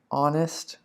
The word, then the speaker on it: honest: an honest man right honest we need an because we have a silent h here okay an honest man